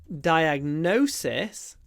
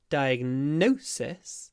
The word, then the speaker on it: diagnosis: vowel no nose but in diagnosis we have a clipped vowel because we pronounce a s so diagnose has a z diagnosis has a s no